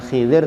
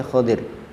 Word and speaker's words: Khodir: satu riwayat ada menyebutkan dibacanya bukan Hilir tapi khodir Hi tidak dinukil satu